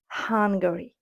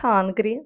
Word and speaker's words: Hungary: ПТ наступна країна Угорщина hungary hungary не Hungry не голодний А hungary hungary - це Угорщина Італія в нас буде Ital